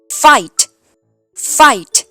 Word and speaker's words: fight: ต้อง ตก ใจ ค่ะ ถ้า เห็น 3 ตัว มา ด้วย กัน แบบ นี้ ออก เสียง ไป เลย ว่า สระ ไอ นะ คะ ถ้า มี ตัว ตัว